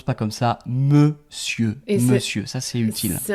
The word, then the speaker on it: monsieur: La prononciation c'est lycée et donc c'est monsieur monsieur en fait qui était mon seigneur à la base et puis ça a été raccourci pour devenir mon suur et monsieur. Voilà la raison pour laquelle on prononçait comme ça avant.